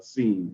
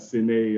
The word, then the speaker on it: Cene: And it is pronounced Cene without the S. So it's not Cene and all of that, but yeah, it is Cene. It's like a play on words, creating your own scene.